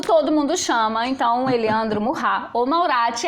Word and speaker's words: Maurat: mais uma vez Eliandro Murrá. No primeiro programa eu chamei Eliandro de Eliandro Murrá, que é a pronúncia correta do nome dele.